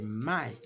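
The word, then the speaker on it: 卖: Le verbe vendre en chinois, c'est mai.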